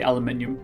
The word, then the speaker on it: aluminium: I'm going to say aluminium, even though it's spelled aluminum.